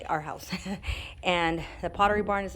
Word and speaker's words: Arhaus: the arhas our house I keep saying are hot because it's spelled a-r-h-a-u-s but I think it's pronounced our house and the Pottery Barn